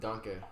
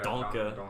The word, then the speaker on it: danke: Thank you was danke. Yeah. Donka. Yeah. Donkey.